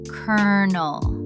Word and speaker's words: colonel: But it's actually pronounced kernel. Like the word kernel, as in a kernel of corn.